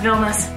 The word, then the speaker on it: Vilnius: We started saying Vilnius, we learned it's pronounced Vilnius.